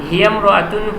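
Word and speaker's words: هِيَ امْرَأَةٌ: হিয়াম রাতুন, হিয়াম হিয়াম বলতে হবে, যেহেতু ইমরাতুনের আগে একটা শব্দ আছে যেটা মিমের সাথে মিলিয়ে পড়ার জন্য হামজাটা আলিফটার উচ্চারণ হবে না। হিয়াম রাতুন ফাকিরাতুন, সে একজন দরিদ্র মহিলা।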